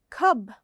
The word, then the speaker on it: cub: no it sounds different so cub has a short u and cube has a long u with an e in the end okay now we're ready